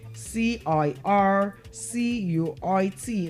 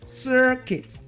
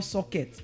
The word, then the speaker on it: circuit: Now, the next word we're looking at is C I R. C U I T. C I R C U I T. Now that word is pronounced as what? Circuit.